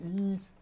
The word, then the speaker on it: Ys: i'm also playing yes seven years you have to say ease okay someone is already